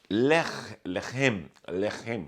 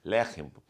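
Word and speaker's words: לחם: Pão em hebraico é lechem. Nós temos mania de colocar acento onde não é. Lechem, né? Mas é lechem.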